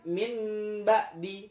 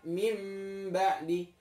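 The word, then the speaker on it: من بعد: Harusnya kan min ba'di, tapi kemudian kita membacanya mim ba'di.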